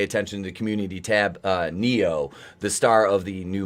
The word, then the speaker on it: Neo: Floyd of Fentanyl, or if you pay attention to the community tab, Neo, the star of the new Matrix movie, to show up. That's spelled Knee-O, Neo.